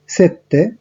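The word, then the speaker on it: sette: চিনকুয়ে, 6 এর ক্ষেত্রে সেই, 7 এর ক্ষেত্রে সেত্তে, 8 এর ক্ষেত্রে অত্তো, 9 এর ক্ষেত্রে নোভে এবং 10 এর ক্ষেত্রে দিয়েছি।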